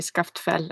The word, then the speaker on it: Skaftfell: but that's fine people also say scaffed fell and that's fine you can just continue with that all right I will scaffed felt M yeah it's this it's like these two L's and you pronounce it you do this weird sound I yeah I would